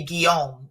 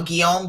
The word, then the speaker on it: Guillaume: I've never shared this, but you know, my ex-husband, his last name, my name used to be Guillaume, as in William, you know, Guillaume, G-U-I-L-L-A-U-M-E.